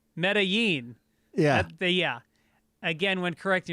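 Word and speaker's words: Medellín: as pronounced when describing how someone corrected your mispronunciation of medean and then also mispronounced the colombian capital as medean it's not a tyler perry movie instead of correctly as medain medellin yeah yeah again when correcting yourself maybe work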